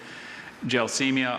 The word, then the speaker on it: Gelsemia: Gelsemia are roots of the yellow jessamine formerly used in medicine.